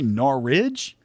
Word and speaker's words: Norwich: norwich i said norwich how do you say it norwich you say no ridge yeah well i don't